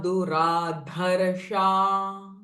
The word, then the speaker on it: दुराधर्षा: Duraradhya duradharsha patali kusuma priya.